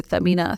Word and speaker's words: Samina: And he first thing he told me, you know, he would call me Samina. As Arab थे वो तो सही तरह pronounce करते थे. He would say, Samina, stop saying you've been here 1 year.